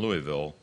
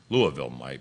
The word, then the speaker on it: Louisville: Systems in Seattle and Louisville Louisville my wife insists that I pronounce it could use race as